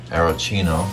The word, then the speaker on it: aeroccino: yeah we're gonna foam it in an espresso aerocino that's how you say it and um okay